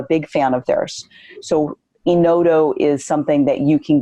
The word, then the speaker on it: Enodo: I also am a big fan of a product called Enodo. It's automated underwriting. That's a web platform. Enodo is spelled E-N-O-D-O.